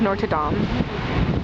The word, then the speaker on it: Notre Dame: This is the view of Paris from the top of Notre Dame, or Notre Dame, that's how you pronounce it in French.